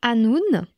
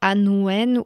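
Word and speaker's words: Annwn: Le troisème, c'est un monde qui s'écrit A N WN qui se prononce anoun et non pas anouen ou anouin. Pronce anoun, c'est du galois ancien.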